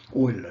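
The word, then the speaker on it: Euler: researched and published by oiler not it's a hula is a oiler it's a german way of already pronouncing his name the word i again was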